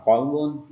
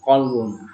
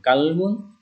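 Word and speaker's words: قلب: Qaf biru menjadi K dalam kata qalbun, itu siapa tahu kita mau mengatakan qalbun hati, tapi kita baca dengan bunyi kalbun, itu berarti anjing.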